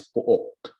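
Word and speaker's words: pook: however you can also call place in Filipino as po okay it's spelled as p o o k po okay and then chair is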